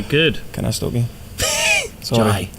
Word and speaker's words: Jai: I mean, J-A-I, how do you say it? Jai. Jai. It's an I. You say Jai and I say Jay.